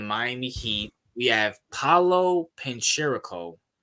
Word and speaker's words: Banchero: We have Paolo Pancherico. Am I saying that right? Banchero, I think is how you say it.